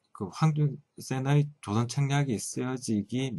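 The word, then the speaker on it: 黃遵憲: 우선 조선이 그 미국과 수교하려고 한다는 의도가 그 대외적으로 알려지게 된 첫 번째 계기가 되었던 황준헌의 황준센, 중국 발음은 황준센이죠. 황준센의 조선 책략이 첫 페이지에 등장하는데요.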